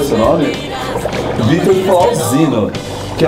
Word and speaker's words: Vittor Flausino: nos querido amigo Vittor Flausino né que se pronuncia seu nome Vitor Flausino que é um maquiador artístico muito [ __